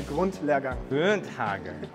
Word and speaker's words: Grundlehrgang: A Grundlehrgang.